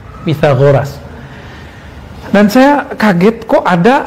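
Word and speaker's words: Pythagoras: TH itu bacanya ta. Pitagoras.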